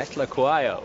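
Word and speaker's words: Phehlukwayo: Petlaquayo.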